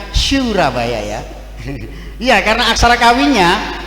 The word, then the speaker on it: Surabaya: Surabaya, bacanya Surabaya ya.